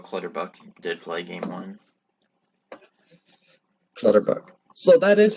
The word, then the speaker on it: Clutterbuck: know that Cal Clutterbuck did play game on Clutterbuck so that is how you say color that